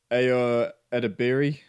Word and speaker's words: Ayo Edebiri: And Ayo Edebiri is how you say her name.